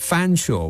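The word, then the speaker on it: Featherstonhaugh: in from next door fure is spelled feather stone or Fe t h e r s t o n h a u g h and it's spelled fan Shaw which by my Reckoning is about a half of the letters are silent how ridiculous is that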